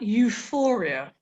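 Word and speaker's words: EUFOREA: scanning please there's some very useful information at euphoria and that is spelled e-u-f-o-r-e-a it's the european forum on chronic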